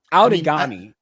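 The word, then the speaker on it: Outagamie: like you know outagami out of out of gamy is how pronounced out and hong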